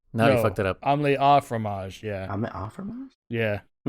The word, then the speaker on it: omelette au fromage: Oh, you're saying omelette au fromage, not du fromage?